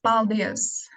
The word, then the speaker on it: paldies: It's paldies.